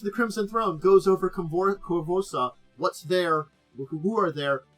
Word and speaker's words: Korvosa: So, it is pronounced Korvosa.